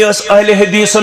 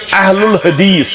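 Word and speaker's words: أهل الحديث: जिक्र कर गलत फहमी अहले हदीसन मुतल्लक या अहलुल हदीस असल लफ्ज अहलुल हदीस वन अस चलन नीरत अहले हदीस असली प्रोनाउंसिएशन अहलुल हदीस क्या सारी मुसलमान सानि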